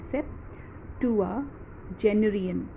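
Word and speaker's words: septuagenarian: Okay students, अब इस word की pronunciation I make it slow. C, सो we pronounce it एज सेप्ट. Okay, SEPT, सेप्टुआजेनेरियन.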